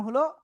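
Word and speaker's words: ح: এরপরে আমরা যে অক্ষর শিখেছিলাম সে অক্ষরটা হলো এই যে অক্ষরটা, খেয়াল করবেন নিচে আসতেছে হা। গলা চেপে মুখ দিয়ে হালকা বাতাস বের করে আমরা এই অক্ষরটা উচ্চারণ করব। হা, এক আলিফ টান হবে, ক্লিয়ার?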